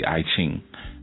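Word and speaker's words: I Ching: up a book on Ekking or as some pronounced the IQing.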